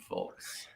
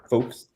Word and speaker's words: folks: good as its Showtime folks first of all I hate that you pronounce the L in that uh second of all do you not pronounce the L in photos folks yeah you definitely are